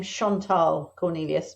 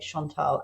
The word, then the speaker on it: Chantal Cornelius: I pronounce my name Chantal Cornelius. My mum was not French, but named me after a little French girl called Marie Chantal. So I like to say it Chantal.